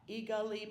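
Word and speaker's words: Igali: In reference to your puppet show, I heard how you spelled it, but I'm going to need you to spell it again. Oh, it's I-G-A-L-I, Eagali Puppets.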